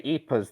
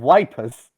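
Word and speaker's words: Ypres: pronounce german place names they didn't say eepas they they said wipers yeah i don't know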